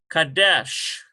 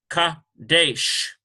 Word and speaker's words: Kadesh: Here we've got a Kof with an A sound, Ka, and here's a Dalet and a AY sound, it's Saray, Ka, De, ends with a Sheen, Kadesh, K-A-D-E-S-H. Kadesh.